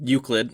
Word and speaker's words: Euclid: Alright, so the object class is Euclid. Am I saying that right? Is that how it's pronounced? Yeah, it's Euclid, yeah.